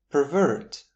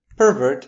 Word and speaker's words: pervert: Pervert as a verb with the stress on the second syllable gives us the meaning